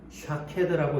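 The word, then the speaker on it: שָׁקֵד: 살구나무로 번역된 이 단어는 샤케드라고 읽습니다.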